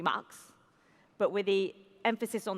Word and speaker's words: Max: We decided it wasn't going to be Marx, it was going to be Max, but with the emphasis on the, but.